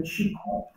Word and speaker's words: Qigong: A pronúncia seria Qigong, e principalmente com Tai Chi Chuan.